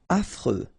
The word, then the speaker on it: affreux: Affreux. Final X not pronounced. And then you get this fr, freux, affreux.